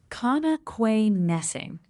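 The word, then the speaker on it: Connoquenessing: Close but not quite. It's Kquay Nessing with the stress on Ness.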